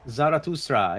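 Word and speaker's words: Zarathustra: And it's going to be, it rhymes with Sora. It's going to be Zaratustraa.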